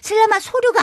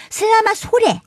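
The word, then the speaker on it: selamat sore: 원 발음은 슬라마소르가 아니고 슬라마소레.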